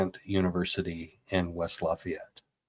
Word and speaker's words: Lafayette: So locals say Liet. It's two syllables. Lafayette.